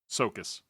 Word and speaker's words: Csokas: What was that, Mike? Sokas. Marton Sokas. We'll go with that.